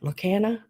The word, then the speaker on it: Lorcana: Lorcana.